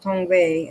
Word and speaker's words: Tongva: We are known by several names, more commonly today as the Tongva, pronounced Tongve as my ancestors before me would have said it, and it conveys the meaning of people of the earth.